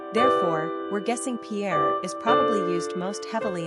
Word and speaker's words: Pierre: Therefore, we're guessing Pierre is probably used most heavily in states where